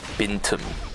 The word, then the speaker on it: Bintum: Drive, and Bin's IGM, the way that you pronounce Bin's name is Bintum. That's actually literally how it's pronounced.